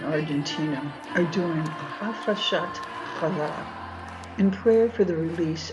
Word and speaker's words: Challah: like in church, but in Hebrew, it is pronounced as a hard H, as in Bach. So in this lesson, we use the XH for the letter Het, as in Challah. The word Challah also has another meaning